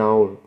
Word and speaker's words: hour: not any hour an hour yeah because the H is silent so you just look